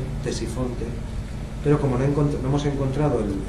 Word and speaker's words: Ctesifonte: Ctesifonte se escribe con C, Ctesifonte, pero como no hemos encontrado la puerta original, pues para que tuvieran una idea de qué estamos hablando.